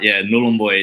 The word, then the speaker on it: Nhulunbuy: What is it, Nhulunbuy? I don't know if I'm going to pronounce that right. Yeah, it's. I'll try my best. It's a bit of a tricky one, but Nhulunbuy.